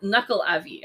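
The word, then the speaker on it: Nuckelavee: look these up um so it's knuckle knuckle avi i should say um so it is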